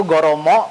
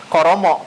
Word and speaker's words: goromo: Artinya Jadi kalau bahasa Jepang itu Goromo atau juga bisa dieja gitu, Koromo kadang gitu.